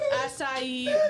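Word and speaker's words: açaí: Acai berry. Yeah, you're still kind of struggling a bit. That's okay. You want to try again? Acai? That's better.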